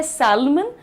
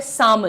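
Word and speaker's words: salmon: लिखा जाता है सैलमन लेकिन होता है सामन। The pronunciation is सामन everyone.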